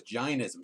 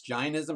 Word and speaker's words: Jainism: You pronounced it just now as Jainism. So what have I been pronouncing it wrong? It's Jainism, not Jainism? You're modern, and Jeff and I are old school. Okay. And the AI in Sanskrit is I.